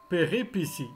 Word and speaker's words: péripétie: Péripétie. Péripétie. Le T se prononce C.